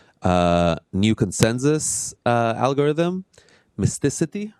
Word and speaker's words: Mysticeti: talk about their uh new consensus uh algorithm Mystic right that's the pronunciation amazing uh so yeah thank you George